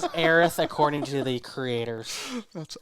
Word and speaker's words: Aerith: it for to be heirs welcome to america look in the mirror you said it wrong but her name is aerith according to the creators